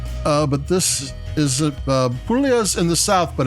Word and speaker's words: Puglia: The first thing, Puglia is spelled Puglia, which sounds like Puglia, but it's Puglia. G is silent whenever times there's a GL.